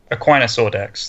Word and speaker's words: Aquinas Audax: Aquinas Audax, that's how it's pronounced.